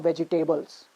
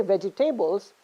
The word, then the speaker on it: vegetables: buy some vegetables no when you say vegetables you're stressing again veggie tables you're stressing on the third syllable but in this case because it's a noun you're you have to stress on the first syllable and that's why it's called vegetables okay it's not vegetables it's doubles so it's vegetables okay so i'm not